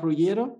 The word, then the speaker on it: Ruggiero: que por favor cuéntanos quién es las rugieron no sé si lo pronunciado bien y a qué se dedica muy